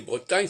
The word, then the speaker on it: Bretagne: Britain alors que ça vient de Bretagne et Bretagne ça doit se prononcer avec un nu bon alors soit voilà